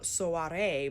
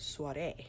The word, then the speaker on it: soirée: it spelled SOA re4 you kind of hear the oh and the a at the same time not saying so RA but soiree it's actually quite beautiful